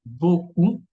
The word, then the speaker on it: beaucoup: Y lettre P muette, tenemos beaucoup, mucho, trop, demasiado, o también tenemos le loup, el lobo, ok. Beaucoup, trop, le loup.